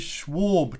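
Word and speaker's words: Schwalbe: I didn't want to ask for it because I was worried about getting the pronunciation wrong. But now that I know, have you got any of these Schwab tyres?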